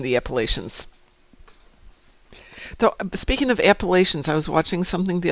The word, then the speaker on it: Appalachia: Though, speaking of Appalachians, I was watching something the other day, and apparently, if you live in Appalachia, it's pronounced Appalachia.